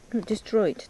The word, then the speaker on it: destroyed: Destroyed, they said.